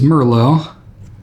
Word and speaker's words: Merlot: I don't know why I said Merlot. That is not how I pronounce it. It is Merlot.